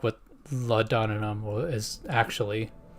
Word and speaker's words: laudanum: Never actually thought about that, like what laudanum is actually. How do you even pronounce it?